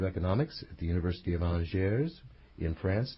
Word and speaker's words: Angers: Hulsmann is a professor of economics at the University of Angers in France. Did I pronounce that correctly? Angers. Yes, well, yeah.